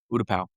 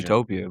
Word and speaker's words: Utapau: I just want to say Utopia. Utopia. I'm not gonna get it. Don't worry about All right. Utapau. it. Utah. I would never have gotten that. Just You for were the close to pronunciation. Utopia, but it's Yeah, Utapau.